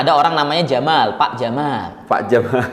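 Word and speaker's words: جمال: Makanya ada orang namanya Jamal, Pak Jamal. Pak Jamal. Itu seharusnya bacanya panjang. Jadi kalau Jamal. nah, seharusnya seperti itu.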